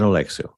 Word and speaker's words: Oleksiw: And he just told me how to pronounce it. My short-term memory just got shorter. Dan Oleksiw.